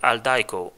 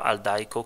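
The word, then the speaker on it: Aldiko: The third-party app that I use to access non-Amazon DRM ebooks is called Aldaiko. It's spelled A-L-D-I-K-O.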